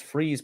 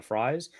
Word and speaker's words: Fries: I thought it was Freeze, but people have corrected me to Fries.